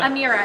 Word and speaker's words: Amira: And during the presentation, so the new, I want to make sure I pronounce it right, Amira? Amira, Amira, yeah.